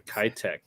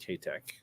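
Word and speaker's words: Keitech: swim bait if the kytek actually it's the kate k tech i think it's pronounced ktek that's it best swimbait the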